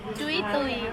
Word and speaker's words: Jui Tui: Jui Tui. Jui Tui. Okay, nearly. I think I've got the pronunciation a little bit better than last year.